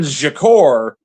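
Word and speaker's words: Tzachor: But what I was going to bring up was, you know, Jonathan Jakur. Yes, that is how you pronounce his last name.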